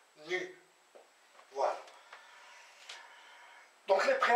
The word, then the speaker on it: nu: mis comme ça ni cette lettre s'appelle nu voilà ça saute ça se prononce nue donc les prêts à